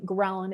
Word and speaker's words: ghrelin: our appetite hormones so the appetite hormone ghrelin is spelled g-h-r-e-l-i-n which you can think of growling it's our hunger hormone